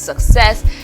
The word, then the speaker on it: success: here and this is Success the stress for Success okay each word comes with their individuality so for this word success this stress is on the second syllable so it is different